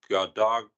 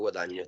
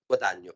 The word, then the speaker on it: Guadagno: For the premises, Mr Gadagno. Can you pronounce that for me? Guadagno, that's correct. Say again. Gadano. Sorry, once more, please. Sorry. Guadagno, please.